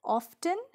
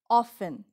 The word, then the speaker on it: often: my garden onion the next word is often not often the correct way of pronouncing this word is often wash your hands often